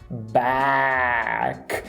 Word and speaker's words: back: E a palavra de volta, se você quer pronunciar essa palavra corretamente, você precisa fazer igual a Arlequina e deixar o queixo cair. Back.